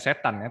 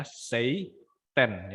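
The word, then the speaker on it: seitan: site and society ya Bukan setan tapi tulisannya stent ya bacanya Sei ten site end site itu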